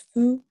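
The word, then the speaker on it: ふ: I would just pronounce it with the F sound so that when you do read words, you're prepared. So just that one's a little exception. Just think of it as foo.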